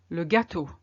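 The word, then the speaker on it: le gâteau: is no difference and the Eau is also a closed o and it's the same as the previous one Legato cake now I chose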